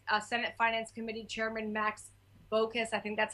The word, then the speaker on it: Baucus: I think, it's very important to get in touch with Senate Finance Committee Chairman Max Baucus. I think that's how you pronounce his last name. Baucus, yeah, from Montana.